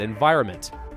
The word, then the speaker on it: environment: N after the enviroments it's a mistake that a lot of people make and it's an easy one to make because if you say it out who's new pronounces the end environnement no one does an environment right but now it's one of those few cases we're sounding it out doesn't actually solve the problem for you we are missing the